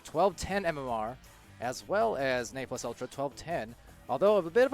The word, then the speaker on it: Ne Plus Ultra: Excuse me, Ne Plus Ultra, since we've found out that's how you pronounce it.